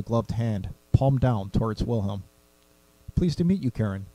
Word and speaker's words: Wilhelm: as she turned towards will home and you are her and asked as she placed a handout will Holmes die Wilhelm he all but yelled the second syllable of his name you don't sound German